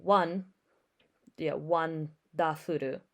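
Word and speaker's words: ワンダフル: And so people are noticing that when you say wonderful Precure and you pronounce it in Japanese, it's wonderful Precure. So one da-furu Precure.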